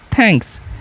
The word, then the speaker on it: thanks: द भी होता है, तो TH से हम यहाँ पर क्या थ लिखेंगे। ए का उच्चारण क्या करेंगे ए, और एन का उच्चारण हम अनुस्वार करेंगे, और के का आधा क करेंगे, और ऐसे क्या होता है दंत स, तो हो गया थैंक्स, जिसका मतलब क्या होता है धन्यवाद।